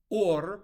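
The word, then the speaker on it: עור: Hebrew word for skin, or spelled with an ayin, sounds just like the Hebrew word for light, or, but now spelled with an aleph.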